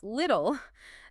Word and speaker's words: little: Little, this word is a perfect example of the flap T we discussed earlier.